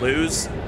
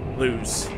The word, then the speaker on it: Laus: I think it's actually pronounced Luz, which is weird.